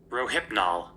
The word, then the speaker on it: Rohypnol: And it is spelled R O H Y P N O L. Okay. And this is how it's pronounced. Rohypnol.